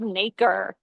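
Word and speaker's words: nacre: And this kind of substance, this really pretty um kind of iridescent and colorful substance is called naker. It's spelled n a c r e.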